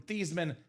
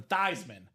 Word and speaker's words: Theismann: How do you feel about changing the pronunciation of your last name from Theismann to Theismann?